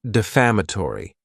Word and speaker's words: defamatory: Next is the word defamatory. and this word has 5 syllables, and the stress is on that second syllable. Defamatory.